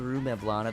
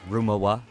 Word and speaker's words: Rue Mevlana: It's called Rue Mevlana. They're like, Rumawa.